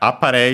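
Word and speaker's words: あっぱれ: Uh the accent is on the Aare low high low.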